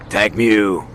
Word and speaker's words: Mutank: Tank Mew.